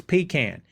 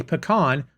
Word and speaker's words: pecan: it that way yes the appropriate way to pronounce that word is pecan if you say pecan show yourself to the door there you go